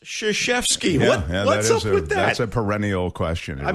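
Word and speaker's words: Krzyzewski: uh the name is spelled krazewski but it's pronounced shashefsky that's a perennial question i mean coach k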